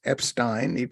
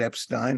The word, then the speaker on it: Epstein: is my namesake Alex Epstein he pronounces it Epstein I pronounce it Epstein the moral case for